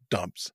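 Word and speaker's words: json.dumps: it Json okay but it's not dumps and loads it's dump s and load s s is for string but it's just fun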